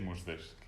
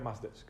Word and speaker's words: Mushdesk: Roberto, ¿qué es Muzdesk? Lo primero es que se pronuncia Mazdesk.